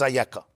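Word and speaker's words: איכה: It's the word Ayeka, pronounced as Ayeka.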